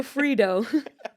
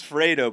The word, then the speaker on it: Fredo: Or Frito? Oh, Maddie, it's Fredo, but Frito's I like hilarious.